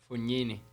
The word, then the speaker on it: Fognini: Fognini.